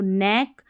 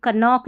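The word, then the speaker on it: knock: पढ़ना है, जैसे इसको नेक, नी, नीड, नाइफ और निट, इसको नाइट नहीं पढ़ना, निट पढ़ना, नॉब ऐसे पढ़ना है, K का उच्चारण नहीं होगा, ठीक है। यहाँ पर भी कनॉक नहीं नॉक, कनो नहीं नो, अब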